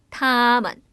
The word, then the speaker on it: 他们: 우리라는 표현은 我们 너희들 혹은 당신들이라는 표현하려면 你们 그들이라는 표현은 발음이 우리 성조가 다 똑같았으니까 他们이겠네요. 그들, 他们 그녀들, 他们 그것들, 他们 이렇게 표현을 합니다.